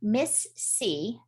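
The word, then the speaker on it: MIS-C: So Miss C, which is spelled MISC, stands for multisystem inflammatory syndrome in children.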